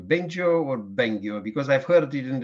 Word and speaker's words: Bengio: How should we pronounce better your name, Bengio or Bengio? Because I've heard it in the two versions, Bengio. But what's the right way? Bengio.